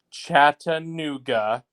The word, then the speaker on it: Chattanooga: put it on record league one chattanooga four syllables four syllables that's good to